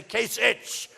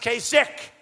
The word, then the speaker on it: Kasich: name kasik it's I every time I see it I say kich but it's pronounced kasik so I'm doing a